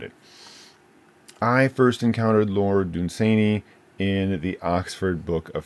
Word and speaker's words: Dunsany: The next is Lord Dunsany. A lot of people say Dunsany. I think I remember reading that the correct way to say it is Dunsany.